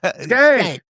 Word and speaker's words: Schenck: Schenck.